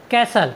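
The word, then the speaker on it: castle: एस टी एल ई कैसल कैसल मीस होता है महल या किला साथियों यहां पर एस के बाद टी आया है इसलिए हमने टी का उच्चारण नहीं किया है हमारा नेक्स्ट वर्ड मीनिंग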